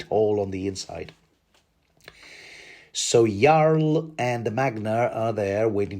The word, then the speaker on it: Jarl: pronounce it yl not Jarl even though it's spelled with a J because you know Viking name yl ask any Dane